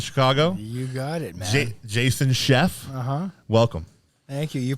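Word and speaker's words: Scheff: lead singers of Chicago you got it Jason Chef uh-huh welcome thank you you pronounced that right there's a lot of people I've been called all kinds of things skeefe scaff Chef you win the prize buddy I love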